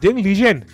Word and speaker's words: Ding Liren: Right pronunciation is डिंग लीजन.